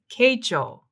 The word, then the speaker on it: Keichō: to say it is kecho so that's really it's really close it's just a matter of emphasis with the little line over the o that means it's longer so it's just a long oh yeah yeah it's not